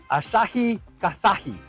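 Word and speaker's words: Asahi Kasei: best shot that I can, and it is Asahi Kasahi.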